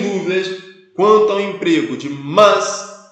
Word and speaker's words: mas: Vou pronunciar mas. Apesar de ser carioca, né? Vou fazer um esforço aqui para pronunciar a palavra como sendo mas, para ficar melhor aí para o seu ouvido, né? Senão, mais. Né?